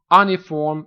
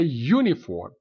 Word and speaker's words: uniform: reason behind that because the vowel here is pronounced as a consonant we do not say any form or only form but we say uniform uniform uniform and the